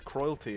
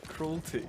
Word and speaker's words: cruelty: C how you say how do you say cruelty cruelty cruelty I've always said that word wrong and I've only just